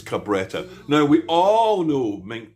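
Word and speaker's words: Cabretta: I was I was used to pronounce it carbburetta but it's not. It's Cabetta.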